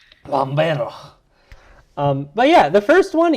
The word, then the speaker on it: Lambert: I believe it's actually pronounced Christopher Lambert because he's French. Lambert. Lambert.